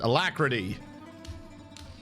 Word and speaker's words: alacrity: Realm and Dwarven electricity it's like the ninth time I mispronounced it alacrity I always want to put a city at the end of it hello welcome in all